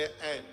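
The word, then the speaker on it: ऐं: सबसे पहले ऐन, इसका उच्चारण सही कीजिए। बहुत लोग एंग बोलते हैं जो एकदम अशुद्ध है बिल्कुल। बहुत लोग हनुमान जी का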